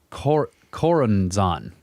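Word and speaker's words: Choronzon: yeah become relevant later the aeon of horus cor koranzan that's how it's said the demon dweller of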